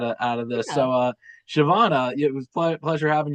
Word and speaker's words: Siobhan: So Shavana, it was a pleasure having you on. I don't know if I'm pronouncing your name right.